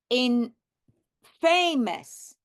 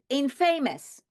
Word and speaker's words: infamous: I have in at the beginning and now I should have said in famous inf famous since one is famous this should be inf famousamous however it is not that's why it's important